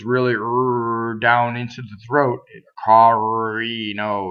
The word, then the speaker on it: carino: R's that are surrounded by vowels are not rolled. They're flipped. The way you flip an R is you get your tongue in the D position, carino, and you just flip it.